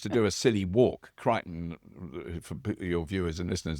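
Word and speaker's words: Kryten: It's Kryton.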